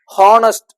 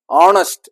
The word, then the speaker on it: honest: vowel sound, honest, honest அப்படின்னு சொல்லுவோம். h is silent.